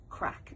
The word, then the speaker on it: craic: And the word that we have uh chosen to use is the word crack, and it is spelled c r a i c.